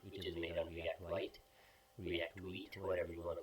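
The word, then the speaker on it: Vite: at our website which is made on react white react whe whatever you want to call it I like to call it white because generally is pronounced as wheat we okay so we have a client in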